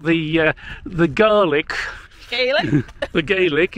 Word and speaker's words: Gaelic: uh the garlic the gaelic isn't it called garlic isn't that the actual pronunciation i don't know everybody